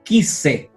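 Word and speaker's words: כִּסֵּא: Es un dagesh leve. ¿Por qué? Porque es una kaf. Y la kaf pertenece a las vegat kefat. La regla es que cualquier palabra que inicie con vegat kefat lleva un dagesh leve, o sea, un punto. La segunda, que es una samej, lleva un dagesh fuerte, ¿cierto? Y se duplica. Y aquí tenemos duplicado. Entonces, quise, trono.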